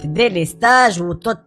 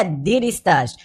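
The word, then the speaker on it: délestage: كامله من الانهيار التام كلمه ديليستاج وتنطق بالعاميه ديستاج هي كلمه فرنسيه الاصل ومعناها الحقيقي والبسيط بالدارجه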